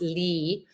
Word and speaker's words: lea: the Oxford dictionary that actually it's pronounced Lee and means vast area